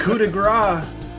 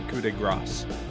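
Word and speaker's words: coup de grâce: I cannot stand when they call it the coup de grace. Yeah, no, you don't pronounce the C.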